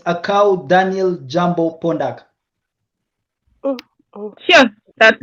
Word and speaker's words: Akau: My proper name is Akau. It's just spelled like your name, David, but it starts with the A.